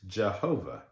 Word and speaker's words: Jehovah: There's another pronunciation or another written form of this where they not instead of not YHWH, it was JHWH. And in some pronunciations, that was Jehovah.